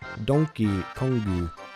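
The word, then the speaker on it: ドンキーコング: a bootleg version of how Donkey Kong is pronounced in Japanese. Donkey Kongu.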